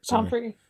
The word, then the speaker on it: Pomfrey: And then he's complimenting Madame Pomfrey, and Pomfrey, that's how you pronounce it, right? Pomfrey.